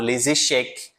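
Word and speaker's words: échecs: E tem também o jogo de xadrez les cheek, que acaba com s, mas o s não é pronunciado. Que se pronuncia vai ser o c, tá? No na palavra lascheque, no plural, né?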